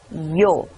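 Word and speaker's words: ㅛ: Then it's the combination of E and O, and it's pronounced yo. Repeat after me. Yo.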